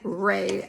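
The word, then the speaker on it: Rhea: I mispronounced her name Caroline Ray I should have known that I was just reading off my notes and of course there is a little silent h in there so I do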